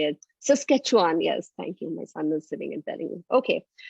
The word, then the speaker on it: Saskatchewan: And don't even ask me how to pronounce Saskatchewan. I think that's how they say it. Saskatchewan, yes, thank you.